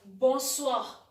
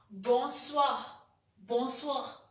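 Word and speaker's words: bonsoir: good evening in french you will say it as boswah it is written b o n s o i r you will spell it as or you will pronounce it as boswa bonswa the third greeting which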